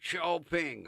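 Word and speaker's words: Xiaoping: X A O P I N G. Xiao Ping. How do you get sha out of X?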